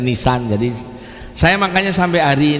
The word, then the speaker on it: Nisan: nama bulan di Ibrani itu tulisannya jadi itu bacanya nisan jadi saya makanya sampai hari ini tidak membeli